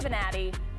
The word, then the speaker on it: Bonatti: And someone who has been a bright spot, Bonatti in the last match. I didn't say her name right. We had Valeron last pack. This is Bonatti.